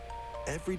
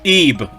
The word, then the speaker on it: Ib: on nintendo switch spring it's not pronounced if you jackass pronounce eeb it's not if it's eve players think of eve but this would be like it's how a japanese person would mispronounce a v i don't care about